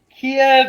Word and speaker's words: Kiev: You know, I mean, y'all realize that, I mean, Ukraine and specifically Kiev or Kyiv, however you want to pronounce it, those are both proper ways.